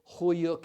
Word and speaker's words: Höyük: Huyuk is spelled Hoyuk.